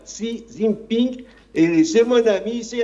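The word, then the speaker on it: 习近平: Plus encore, elle est en train de valoriser si Zimping puisque j'étais en Chine, je prononce exactement comme les Chinois le voilà si Zin Ping et c'est mon ami, c'est un grand homme et cetera.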